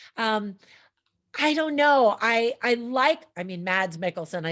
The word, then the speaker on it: Mads Mikkelsen: Now, there are some people who say that Mick Mickelson does a much better job. I don't know. I mean, Mads Mikkelsen, I said his name wrong.